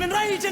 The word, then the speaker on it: enraging: And notice how the center syllable is longer in duration, louder, and higher in pitch. Watch me engaging them, escaping them, enraging them.